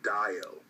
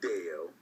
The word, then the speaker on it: Dayo: this is from Rachel my name is pronounced Dio not Deo di Dio the next